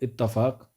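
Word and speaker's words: اتفاق: आपने सुना भी होगा इत्तेहादो इत्तेफाक भी जो है वह इसका सही प्रोनाउंसिएशन होता है।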